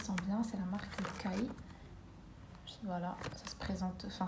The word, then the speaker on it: Kai: C'est la marque Kai. Voilà, ça se présente, enfin ça s'écrit KAI.